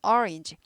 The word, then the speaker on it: orange: orange 앞에 액센트 있죠. orange 어도 아닌 것이 오도 아닌 것이 orange G 발음 orange 발음입니다.